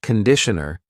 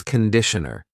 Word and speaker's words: conditioner: This is shampoo and this is conditioner. Be careful of the pronunciation. It's not conditioner. It's conditioner.